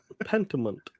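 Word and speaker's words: Pentiment: __ ] bro okay pentament that's it that's how you say it play pentament yeah I like the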